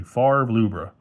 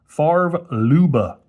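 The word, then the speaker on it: Favre-Leuba: There's your Farer Luba I keep having to remind myself to pronounce it correctly. Farv Luba. Farv Luba.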